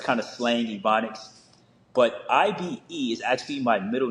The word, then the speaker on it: Ibe: But IBE is actually my middle name. I'm of Nigerian descent, so it's pronounced Ibe, which is short for Ibe Zim, which means I